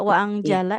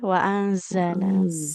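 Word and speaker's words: وأنزل: Tidak wazala ya tapi waanzala.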